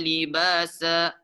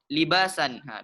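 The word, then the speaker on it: لِبَاسًا: Waja'alna al-laila libasa. Dia seperti itu cara membacanya. Bukan libasan. Biasa ada orang juga dia belum tahu dia dibaca libasan. Salah.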